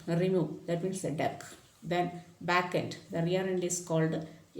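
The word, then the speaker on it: dequeue: from the front end queue, so that is deck. Actually, what is that? Delete an element from the queue, so the process is called deck. Okay, DQ or deck.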